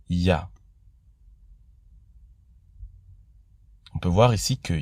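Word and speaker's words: יה: Il est reconnu que ces 2 lettres rassemblées se prononcent Ya.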